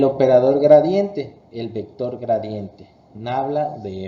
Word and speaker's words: nabla: El símbolo se pronuncia nabla.